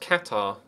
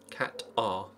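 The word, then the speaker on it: Qatar: Oh, see it is pronounced catar. Cat R.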